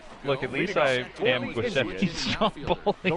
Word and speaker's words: Giuseppe: Giuseppe does not like the way you pronounce Giuseppe's name. Except I'm not a Giuseppe, I'm Giuseppe.